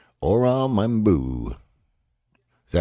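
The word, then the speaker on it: Membou: Or membu. Is that how you say it? Yeah, membu.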